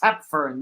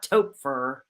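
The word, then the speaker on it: Toepfer: you go um Betty tepfern yes that is how you pronounce her last name t-o-e-p f e r not Topher or tougher all right let's move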